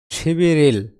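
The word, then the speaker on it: 십일일: শিবিরিল। 11 মানে কি? শিবিল। শিবিল মানে 11 আর তারিখ মানে ইল। উচ্চারণ কি দাঁড়ায়? শিবি রিল। বিউপ ইং স্থানে গিয়ে ব হবে, আর রিউল ইং স্থানে গিয়ে র হবে।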